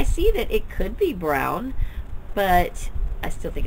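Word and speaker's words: Braun: introduces the book and she pronounced it Lillian Jackson Brown I am almost positive I've always heard it lilan Jackson Brawn but I'm going to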